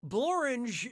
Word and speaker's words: Blorange: but nobody got it blorange is a place and it really rhymes with orange but if you